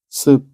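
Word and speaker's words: span: 주행 레일의 중심간의 거리 이것을 우리는 스펜이라고 읽습니다 스펜 m m 이름이 아니고 펜입니다 sp an입니다 n 그리고 세 번째는 원동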